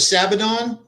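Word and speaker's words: Sabaton: From what I hear, they're touring with Sabadon, I believe is how you pronounce their name.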